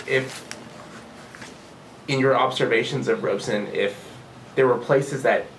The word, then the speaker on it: Robeson: liminal figure and constantly two syllables robson robeson and you know he's